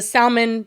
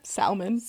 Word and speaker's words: salmon: Okay, so Emily Mariko is the salmon bowl rice lady. You know her? Salmon. Salmon. What did I say? The L is silent.